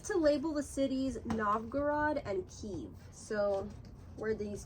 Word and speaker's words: Novgorod: Novgorod. Oh, I said it wrong. Novgorod.